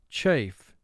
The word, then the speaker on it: chafe: Chafe. 3 sounds. Ch, a, f. Chafe. This word is a vowel group 3 word because of the silent E at the end of the word.